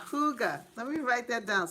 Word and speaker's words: hygge: plant out till late may yeah hygge yes hooga yes welcome hugo homestead i was trying to remember the pronunciation yeah that's yes hygge hygge let me write that down so i remember